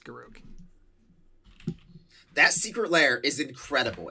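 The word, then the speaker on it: Garruk: can be mad but it's actually garuck and be mad all you want but it's garuck no one says garook but it's garuk that secret lair is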